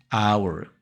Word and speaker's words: hour: Esta palabra empieza con la letra H. Técnicamente empieza con una consonante, pero al momento de pronunciarlo, el sonido es diferente. Porque decimos hour, que es el sonido de una vocal.